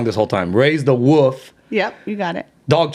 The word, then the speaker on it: Raise the Woof: Raise the Woof.